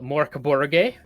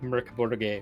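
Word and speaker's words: Mörk Borg: right or Mercury it's it's spelled mock book but it's it's Swedish so it's like murder yeah the Swedish pronunciation is like mercaborgay or something like that uh come and watch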